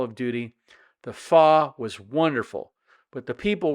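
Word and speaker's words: phở: other things fa now you may see that spelled pH H not pH but it's pronounced fa now I don't know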